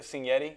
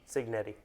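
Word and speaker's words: Cignetti: I can never pronounce it. Kurt Senetti. How do you say his name? Signetti.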